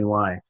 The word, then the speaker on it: Mahony: Paul Mahoney is, I guess how you pronounce it. It's Mahony.